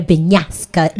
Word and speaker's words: Bignasca: began your Andrea BIGNASCA journey?